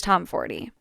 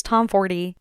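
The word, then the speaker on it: Tomforde: Classics include, but are not limited to, Caught Up by Liz Tomforty. By the way, I did learn that the E at the end of Liz Tomforty is supposed to be pronounced.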